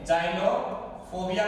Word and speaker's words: xenophobia: एक बार प्रोनाउंसिएशन हम इसका चेक करेंगे, जाइनोफोबिया कहलाता है बेटा, EXENOPHOBIA, जाइनोफोबिया।